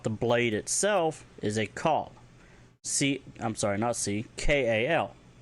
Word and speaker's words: kal: If you want to talk about the blade itself, is a call. KAL, call.